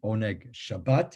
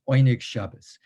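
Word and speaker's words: Oyneg Shabbos: the oinig shabbas group sometimes you'll see one shabbat which is the hebrew modern hebrew pronunciation but that's not quite right these were yiddish-speaking people yiddish-speaking polish speaking and they would have would not have called themselves pop probably one egg shabbat it's oynik shabas and the reason it's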